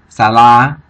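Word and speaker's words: សាលា: So putting them together, the first syllable we know is going to be sa.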